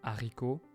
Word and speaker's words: haricot: The H in some words is sometimes silent for younger speakers, and aspirated by older speakers, at least where I live in France. This is the case for haricot, handicapé, and a few other words.